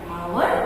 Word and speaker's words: hour: H remains silent. Our and honest.